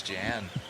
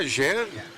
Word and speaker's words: Jan: Jan or Yan? Yan, I think you're right. Um, one of my favorite fighters is named Yan Blahovich and he's from the same area and it's spelled Jan.